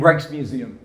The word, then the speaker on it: Rijksmuseum: Help me out, the pronunciation, I don't want to. The Rijksmuseum. Rijksmuseum, thank you.